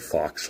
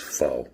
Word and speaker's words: faux: He uh in the first video I said fox leather and he's like um it's faux by the way. The X is silent. So faux leather slip and I